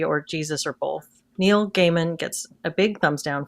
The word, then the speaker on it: Gaiman: I didn't know how to pronounce Gaiman. it. Okay, Gaiman.